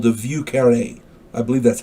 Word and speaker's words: Vieux Carré: It's also called the Vieux Carré. I believe that's how it's pronounced. Vieuxcarre, and the accent is on that last E. Vieux Carré, I believe it's called.